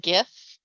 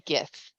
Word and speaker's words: Gith: As the GM pronounces it Gith, it shall be Gith. Mhm.